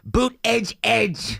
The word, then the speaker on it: Buttigieg: That's not how you say it. Pete Buttigieg. Not how you say it. Everything Bernie does, he gets wrong. It's boot edge edge.